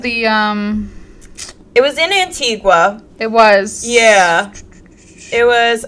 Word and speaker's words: Antigua: I am so sorry for how poorly I pronounced that it's an Antigua it is Antigua um yes but it was and it was